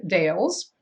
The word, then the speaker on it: Deal: but because they actually the family originated in Scotland the pronunciation would have been the way we say Dale now so in that 1630 muster roles there were five deals in the 1669 Hearth